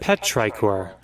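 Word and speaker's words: petrichor: Petrior. Petraor.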